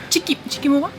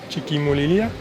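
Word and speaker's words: Chiquimulilla: That gives us like a window to exit and potentially get to Chiquimulila. Chiquimula? Chiquimulila. You can only go there if you can pronounce it.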